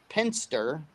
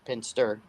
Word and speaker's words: Penster: Cybersecurity firm Penster, not Pinterest, Penster. Pinster, okay.